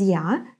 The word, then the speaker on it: я: When it's stressed, it's going to be pronounced in a more clear way, so it's going to be stronger. Я, like яблоко. And when it's not stressed, it becomes kind of и or even и.